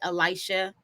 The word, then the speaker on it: Elisha: So my name is Elisha. By spelling and pronunciation is Elisha.